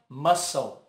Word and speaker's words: muscle: Mas o C aqui não é dito, então fica muscle.